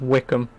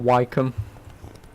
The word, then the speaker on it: Wycombe: I think it's actually pronounced Wickham. If I remember correctly, it's pronounced Wickham, not Wycombe.